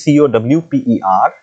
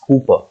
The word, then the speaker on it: Cowper: Hooper though it is c-o-w-p-e-r uh if you note if we it is co w p e r it's not Cowper okay it's Cooper okay double O it it is pronounced